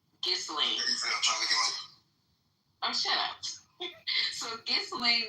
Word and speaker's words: Ghislaine: It's Ghislaine. Ghislaine.